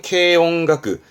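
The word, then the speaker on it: 軽音楽: 그래서 이들은 경음악이라고 합니다. 발음은 케용가크.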